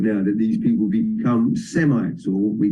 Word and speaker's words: Semite: Rabbi would say the the S is are pronounced with a sh and then if we